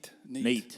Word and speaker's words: Nete: If y'all haven't seen, and what so your YouTube channel is what, Nate stuff, right? Neat. Yeah. Neat stuff.